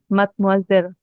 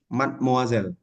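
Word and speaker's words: mademoiselle: Madam mozela gitu ya bu bukan madmazel matmazel iya ah B itu madem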